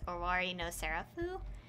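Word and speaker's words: 終わりのセラフ: They say the Japanese, they say the Romanized Japanese, which is Owari no Seraph. or how it actually is pronounced, is Owari no Serafu.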